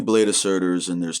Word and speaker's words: Surtr: There's 3 Blade of Surtrs and there's 2 Achilles. Okay, and I'm sorry, I know I butcher Surtr. I always say Sir, but Surtr.